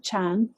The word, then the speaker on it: Chan: made its way through China and was pronounced a little bit differently as Chan and then made its way to Japan where it's pronounced Zen so what